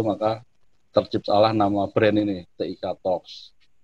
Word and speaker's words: TIK Talks: Kita di internal berupaya untuk menghindari hal seperti itu, maka terciptalah nama brand ini, TIK Talks. Tapi mohon nanti bacanya jangan TikToks gitu, jadi nanti kepleset gitu.